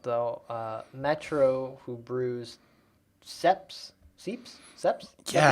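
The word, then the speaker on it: Seipp: uh metro who brews seps seeps seps yeah how do you say it because we've had it on the show and it's um it's it's s-e-i-p-p however you say that is sep um the conrad site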